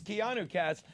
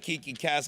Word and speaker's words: Keanu cast: Mister by the way it's Keanu cast I wanted to call it Kiki Cass because look how you would spell it you see where this